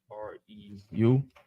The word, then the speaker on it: Reu: R-E-U? Rule. Reu.